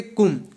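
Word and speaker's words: Comte: 1848 में, bye Auguste कुम, इसको कुम बोलेंगे हम, ठीक है, इनका जो प्रोनाउंसिएशन है, बाय ऑगस्टे कुम।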